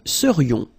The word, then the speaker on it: serions: So then, final S not pronounced, and then this is this yon, yon. Remember, it goes in your nose, it's nasal. Yon. Nous serions.